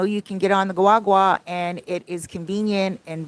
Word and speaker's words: guagua: bus it's called the guagua guagua really Wawa because the g is silent but it's g-u-a-g-u-a it's